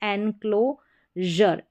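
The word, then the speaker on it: enclosure: ये काम करता है, एनक्लो, जर, एनक्लोजर। तो इस तरीके से सभी में यहाँ पर SURE को जर करके प्रोनाउंस किया गया है।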